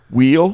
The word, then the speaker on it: Will: It was I know somebody's a redneck if they say my name with 2 syllables. Wheel?